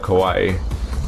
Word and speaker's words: Kauai: Because I heard my mom say it, and she doesn't know what Kauai means, so I'm pretty sure she would...